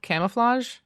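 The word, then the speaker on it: Camouflaj: This affected a Bellevue studio named, I think it's called Camouflage. That's correct, yeah. Okay, it's spelled in a weird way, but I think it's Camouflage, yeah.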